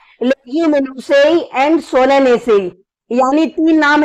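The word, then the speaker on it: Solanaceae: बाकी इसकी प्रोनाउंसिएशन ऐसे होती है रोजे से, लेगुमिनी से एंड सोलेनेसी।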